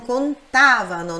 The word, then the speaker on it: contavano: Pronúncia forte nesse tá, non contavano, não é non contavano, é non contavano, non contavano. Loro non contavano. Normalmente, quando se trata de loro, eles, a sílaba tônica, ou seja, a sílaba forte, é na segunda do verbo.